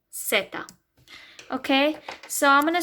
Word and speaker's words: Zeta: Y is Y, okay, and Z is Zeta. Okay, so it's not Zeta, it sounds like a C, Zeta.